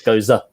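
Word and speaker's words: Gose: Because I said goes or goss or whatever, but it's Goza.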